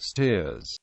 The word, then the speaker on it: Staithes: Locally, the name was traditionally pronounced Steers.